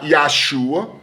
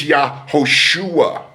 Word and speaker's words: Yahushua: It's not Yahshua, it's Yahushua, ladies and gentlemen. It's not Yeshua, it's Yahushua.